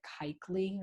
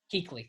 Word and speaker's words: Kuechly: Is it Kuechly or something like that? Luke Kuechly? Kuechly, thank you.